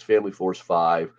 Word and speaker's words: Family Force 5: Family Force V five Family Force V depending on how you pronounce it but it's Family Force 5 uh this is Matt